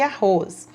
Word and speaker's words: arroz: do r vamos lá o som dr forte pode ser representado por r no começo da palavra ou com rr entre vogais exemplos rapadura e arroz observe que essas duas palavrinhas façam forte o rapadura arroz mas para ser esses são